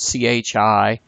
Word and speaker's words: chi: It's spelled C-H-I, but pronounced chi.